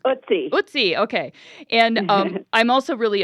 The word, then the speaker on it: Ötzi: How do you pronounce it? I'm probably saying it wrong. Ötzi.